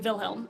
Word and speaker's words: Wilhelm: also also it's not Wilhelm it's definitely vilhelm even though it's a w it's definitely a v because that's just how it's pronounced that's yeah yeah he's